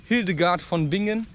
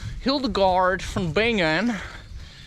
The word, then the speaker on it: Hildegard von Bingen: Right, and there's probably women, like who was Hildegard von Bingen? How you would probably say it, Hildegard von Bingen, because you cannot pronounce German properly, which you should try, right?